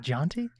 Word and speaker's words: Jonti: It's my pleasure to have the one and only Jonti. Did I pronounce it right? Yeah. Is it Jonti?